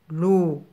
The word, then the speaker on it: loup: L avec le son ou se prononce loup.